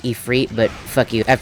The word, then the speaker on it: Ifrit: And first things first, I know that it's actually pronounced Ifrit, but fuck you. I've pronounced it Ifrit for literally years, so I'm not changing it anytime soon.